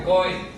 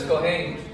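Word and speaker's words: כהן: De ahí viene el famoso apellido que aquí pronuncian Cohen, pero es Cohen, ministro.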